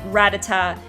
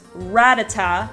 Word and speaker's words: Rattata: and pronunciation works where if you have a double consonant it usually means the vowel sound the syllable before it is the one with the emphasis so Rattata the first sets of tees are double and so it's Rattata instead of ratata that's kind of how